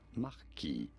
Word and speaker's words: marquis: In French, it is said as marquis. That is Marquis. why you will sometimes hear it said as marquis when you're talking about a French marquis.